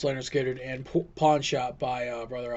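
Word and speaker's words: Lynyrd Skynyrd: ones I'm doing are Leonard skinnard pronounced Leonard skinnard and pawn shop by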